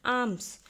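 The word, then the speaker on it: alms: Distribute का मतलब बांटते हैं आर्म्स। तो यहां पर भी एल साइलेंट होता है।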